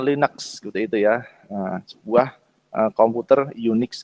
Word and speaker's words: Linux: Linux seperti itu Nah Linux itu biasanya diucapkan dengan linex itu Ya sebuah komputer